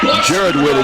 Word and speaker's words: Whitted: Jared Whitted is how they pronounce it, but his second sack of the ball game.